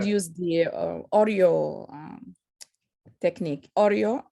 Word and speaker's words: Oreo: O-R-E-O. O-R-E. Oh, because this is the way you pronounce it, Oreo.